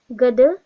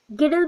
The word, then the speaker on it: girdle: उसके बाद देखिए लिम्ब गडल डिस्ट्रोफी, गिडल बोल सकते हैं स्पेलिंग के अकॉर्डिंग, और लिम्ब गडल बोलते हैं, GIRDLE।